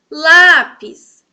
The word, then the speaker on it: lápis: Lápis. Lápis. Lá no comecinho, ó. Só que eu não digo que é a primeira sílaba. Nessa classificação, eu tenho que olhar a posição do final para o começo.